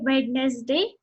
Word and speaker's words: Wednesday: Most of you might be pronouncing it Wednesday, but no, it is Wednesday.